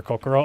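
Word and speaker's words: 心: Can be read as shin or kokoro. Oh yeah, that's heart.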